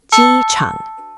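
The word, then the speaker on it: 机场: Now, blend. Ji Chang. High flat, then dip.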